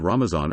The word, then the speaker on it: Ramazan: In the Persian language, the Arabic letter is pronounced as z. The Muslim communities in some countries with historical Persian influence, such as Afghanistan, Azerbaijan, Iran, India, Pakistan and Turkey, use the word Ramazan or Ramzan.